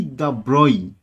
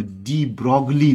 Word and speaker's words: de Broglie: করে French Rajkumar Luis দ্য ব্রয়, ওনার নামটা মোটেও ডি ব্রগলি নয়। ইন্টারভিউতে কেউ ডি ব্রগলি বললে তাকে প্রথমেই আমি অন্তত বাদ দিয়ে দেবো, যে এনার উচ্চারণটা লুই দ্য ব্রয়, লুইসও নয় কাইন্ড অফ।